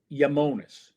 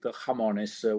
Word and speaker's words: Iamones: So the right pronunciation is Yamones because it mixes up the two parts or my two passions.